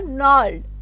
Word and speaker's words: gnarled: So G is silent here, nard. इस तरीके से pronounce करेंगे.